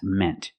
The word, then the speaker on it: meant: In the present, mean, use the long E sound like green beans. And in the past, meant. Use the short E sound like 10 and red.